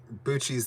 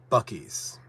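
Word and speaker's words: Buc-ee's: I was like, Bucci's this, Bucci's that, and everyone was correcting me. They're like, Juan, you don't say it like that. It's supposed to be Bucky's.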